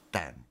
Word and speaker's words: Stan: name's stan much easier it's just stan like istanbul or constantinople pakistan or it means place